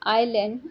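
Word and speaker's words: island: या no article आएगा, आइलैंड, आई आ ई, ये सुर का प्रोनाउंसिएशन हो रहा है, इसलिए एन का प्रयोग होगा, बी आंसर आएगा, ठीक है।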